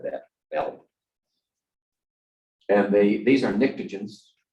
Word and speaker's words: pnictogens: And these are pnictogens. The nitrogen group starts with a P actually, but the P is silent.